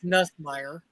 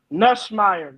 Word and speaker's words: Nussmeier: Say his name right. It's Nussmeier. Nussmeier.